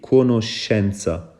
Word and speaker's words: conoscenza: ak e par exemple baat bi conoscenza dañ ko prononcer sh conoscenza waaw bu fekkee ne